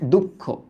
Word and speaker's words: দুঃখ: দুঃখ শব্দটা লিখি, হ্যাঁ দুঃখ, ওকে দেখো দুঃখ, এখানে উচ্চারণটা কেমন হয়েছে বলতো? খ তো ছিল একটা, বাট আমরা এই শব্দটা যখন লিখি তখন কি হয়ে গেল দেখো তো? ক্ষয়ের দ্বিত্ব রূপটা হয়ে গেল।